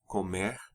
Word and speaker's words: come: their stems, comer, beber, the pronunciation of those vowels opens in the você, vocês, and third person forms, singular and plural, so that rather than the O sound in eu como and comemos, you pronounce something closer to O. Você come, ele come, vocês comem, eles comem.